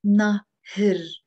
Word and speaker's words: نهر: في النهر إيه نهر we have to be careful and not say نهار because in standard or نهار that would be day نهار نهار this is نهر نهر it's a سكون which is actually pronounced as a إيه نهر نهر حد الشارع في